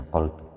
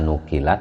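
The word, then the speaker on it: نقلت: Ini bacanya naqaltu. Dibaca nukilat ya tidak apa-apa. Tapi mungkin yang lebih memahamkan adalah naqaltu.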